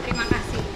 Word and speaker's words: Terima kasih: Terima kasih.